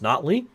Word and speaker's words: Notley: before the election that not Lee's name was pronounced notley and I just failed